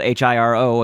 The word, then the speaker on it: Hiro: Hiro, that's spelled H-I-R-O, again, you know, that you can pronounce it Hiro, where you roll your R. But for these purposes, I'm just going to say Hiro so that I can say it quickly.